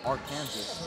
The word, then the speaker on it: Arkansas: a totally different state I know but what it's spelled AR Kansas but it's pronounced Arkansas kind English is a